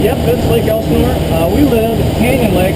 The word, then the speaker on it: Lake Elsinore: Yep, that's Lake Elsinore.